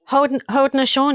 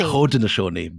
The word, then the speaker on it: Haudenosaunee: the Algonquin, the Wendats, the Mohawks, and you pronounce it rather than me because I'll make a mess of it. Haudenosaunee. Haudenosaunee.